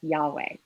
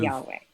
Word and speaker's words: Yahweh: name of God that we understand as pronounced as Yahweh. But what Exodus 3:14 does is to give an etymological explanation for the form of the name Yod-He Vav-He, which we pronounce as Yahweh.